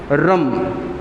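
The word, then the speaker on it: ह्रम्: बीज मंत्र आता है रम रम एच आर ए एम एच आर ए एम हेच silent रहेगा उसके वाइब्रेशंस आपके नेवल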